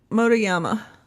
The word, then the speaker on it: Motoyama: So I have Loren, don't tell me I'll say it right, Motoyama.